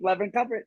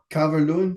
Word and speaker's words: Calvert-Lewin: Dominic Levin Cover. Can't pronounce his last name, but you know what I mean. Calvert-Lewin, Calvert-Lewin, yeah, he's back.